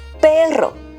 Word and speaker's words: perro: because you know that Spanish has two pronunciations with the r Double R and just one R there's a huge difference for example as I mentioned before but in Spanish is peril but doc Doc in Spanish is perro and if you can hear well I am pronouncing perro well this was the